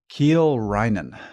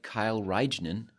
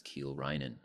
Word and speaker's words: Kiel Reijnen: Ke Rhinan. That's the correct pronunciation. Kind of looks like Kyle Ren, but it's Keel Ren.